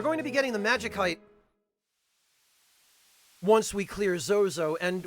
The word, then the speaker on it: Magicite: wingless uh but decoy my reasoning behind pronouncing it Magik heite is that if you follow the English Convention of pronouncing the C as an S when it's followed by a vowel it ceases to make sense as far as the pronunciation of magic is concerned um like if you